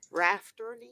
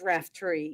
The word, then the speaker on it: Raftery: I've been pronouncing your name all this time wrong. Raftery, It's Raftery.